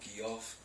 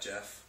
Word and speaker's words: Geoff: end of the show, Geoff, I like to call him Geoff, not Jeff. Because it's not the proper, my name's spelled the right way. Right, J-E-F-F. That's the way it's spelled, get that G out of there.